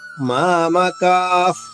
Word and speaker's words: మామకాః: అక్షరాలు అవుతుంది అది బాగా గుర్తుపెట్టుకోండి యోయుత్సవః యోయుత్సవః విసర్గ ఉచ్చారణ హ్రస్వంగా మూడవ మూడవ చరణము మామ కాఫ్ మామ కాఫ్ మూడు అక్షరాలు అందులో రెండు దీర్ఘక్షరాలు ఒకటి